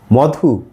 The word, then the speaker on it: মধু: যেমন যেমন ধরা যাক আমরা লিখলাম ম ধু মধু এটা উচ্চারণ মধু আবার দীর্ঘ উকার ব্যবহার করি আমরা উধ্বনির বধু বধু মধু লিখবো কিন্তু উচ্চারণ করব মধু কারণ ওই যে ম